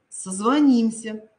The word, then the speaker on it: созвонимся: вами красивее звонит звонят созвонимся я уже вам сказала здесь ударение уходит за букву н свекла щавель столяр маляр